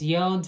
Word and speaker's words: yod: The moon mirrors the sun, and when you look at all these yods or yads of the tarot, either acceptable pronunciations, look at how many.